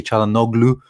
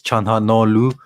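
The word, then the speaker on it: Çalhanoğlu: his name probably properly so the g is silent in the no i i used to say charlo no glue but it's chanha no what's that what's that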